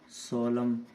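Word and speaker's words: solemn: कॉलम, ऐसे ही सोलम, तो एन का कोई साउंड नहीं है क्योंकि उनसे पहले क्या है, एम है, उनसे पहले क्या है, एम है।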